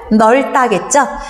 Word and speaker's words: 넓다: 자, 이거 발음 어떻게 하죠, 여러분들? 넓단가요? 표준 발음 넓다겠죠? 넓다, 넓고, 넓지만 넓음.